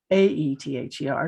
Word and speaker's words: aether: It's spelled with an A, A-E-T-H-E-R, and pronounced aether.